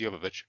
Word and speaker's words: Jovovich: It slows down a bit, but you get to look at Mila Jovovich. I should say Jovovich. I should Yeah. find out the correct pronunciation. The correct pronunciation is Jovovich.